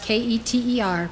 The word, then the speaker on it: Keter: for spherote is called ketter it's spelled k-e-t-e-r pronounced keter it means crown as you